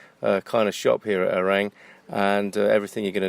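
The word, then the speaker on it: Ourém: Today I'm in Orang, which looks like, to a foreigner, Aurem, Ourem, but pronounced Orang.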